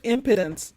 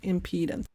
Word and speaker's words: impedance: my viewers that say don't pronounce it impotence okay i'll pronounce it impedance so impedance impedance right must match